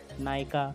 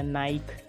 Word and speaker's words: Nike: बहुत सारे नाइकी के फैन नाइकी को मिस प्रोनाउंस कर देते हैं। बहुत सारे लोग नाइकी को नायका या नाइक या नाय ऐसे अलग अलग शब्दों से प्रोनाउंस करते हैं, लेकिन इसका सही प्रोनाउंसिएशन है नाइकी।